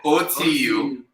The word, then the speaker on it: Otu: Yes, OTU. That was the original. They are butchering the pronunciation. Oh, okay. Oh, there you go. It's called Otu in Igbo language.